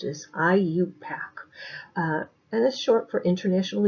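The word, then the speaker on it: IUPAC: use we use what is known as the IU pack I you p8z method of nomenclature okay so the way it's pronounced as IU pack and this short for International Union of pure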